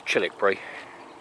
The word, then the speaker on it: Childwickbury: of chilbury now uh it's spelled childwickbury it's pronounced as chilik Bri uh now half of the things in chilik